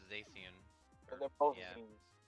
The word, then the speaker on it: Zacian: gonna say, I'm pretty sure it's Zacian. But they're both yeah. Z's. They are both A. Z's. They're actually spelt with X's.